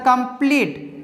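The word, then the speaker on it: complete: इस तरह कंप्लीट, यहाँ पे ई के बाद एक लेटर छोड़ के फिर ई है, ठीक है, इसीलिए ई का उच्चारण क्या होगा, यहाँ पे बड़ी ई की मात्रा होगा, इसीलिए यहाँ पे कंप्लीट बड़ी ई की मात्रा आया है, ठीक है, और लास्ट का ई का हम लोग नहीं उच्चारण करते हैं, ठीक है।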